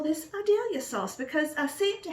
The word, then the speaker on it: Idalia: Yes, I said Idalia because we live just down from Vidalia, Georgia, and it's spelled the same without the V, so I'll just say Idalia.